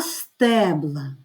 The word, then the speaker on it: стебла: буде не стебло а стебла знову змінюється остання буква і наголос у слові це дуже помітно при вимові Так отже одне стебло